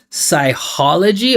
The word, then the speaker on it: psychology: it that way right obviously like this ch we pronounce as K psychology I know it